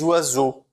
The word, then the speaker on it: oiseau: Les oiseaux. O oiseau com o X que eu não vou pronunciar, certo?